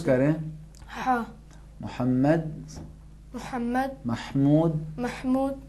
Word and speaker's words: محمد: وہ کون سے تھے محمد ہادی آپ بتائیں. ہا اور عین. ہا کہاں سے تلفظ ہوتا ہے؟ ہا تلفظ کریں. ہا. محمد، محمد، محمود، محمود، حامد.